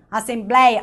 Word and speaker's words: assembleia: Olha como eu abro minha boca pra falar. Herói, assembleia. Alguém fala assembleia? Não, vamos aqui, né, na assembleia. Não dá, você tem que abrir a boca, senão não sai. Assembleia. Assembleia, senão fica assembleia. Olha só, como é que você diz veia? Veia, a sua boca fica mais fechada. Veia, né? Tomei injeção na veia. Agora, vou participar da assembleia.